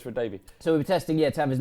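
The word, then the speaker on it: Radebe: Lucas Radibi. He didn't know Tony. I said his name wrong. Lucas Radabi.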